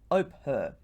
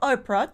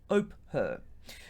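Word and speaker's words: Ophir: r i it's pronounced oper no not oprah don't don't relate it to the tv show host oprah no it's oper unfortunately the exact location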